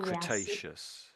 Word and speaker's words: Cretaceous: Do you want Let me let me just let me just say all three of them for you. Listen for a moment and then you can have it. Give it a go. So, Triacic, Jurassic, and Cretaceous. You'll go. May I give it a go? Okay. Triacic, Jurassic, and Cretaceous. Yeah. Oh, sorry. Cretaceous. That's it. You got the triacic triacic cretaceious.